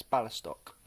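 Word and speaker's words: Białystok: say it in polish it's b i a-l-y-s-t-o-k and i think that's ballistock so anyone that's uh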